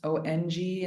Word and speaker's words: Om: chant that three times on is pronounced om a little bit of a vibration in the upper pallets the nasal cavities so feel that nasy sound as you hold the